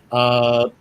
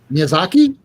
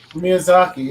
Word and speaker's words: Miyazaki: I'm probably going to mispronounce it. Mizawa, the guy that does like the Studio Ghibli stuff. Miyazaki? Miyazaki, yeah. There you go.